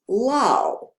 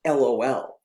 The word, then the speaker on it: LOL: lol problem in text-to-speech the robots may pronounce the common internet slang acronym lol for laugh out loud as lao not lol this error could be